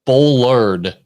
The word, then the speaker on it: bollard: to me about a bole though so basically what happens and when joe bring this up they're generally like these these cement uh i said it wrong it's a bollard and these are and